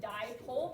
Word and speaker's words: dipole: But you pronounce it dipole because di means two, and it's two poles, positive and negative.